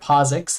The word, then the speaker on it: POSIX: p threads library okay this stands for posix that's how we pronounce that posix threads and these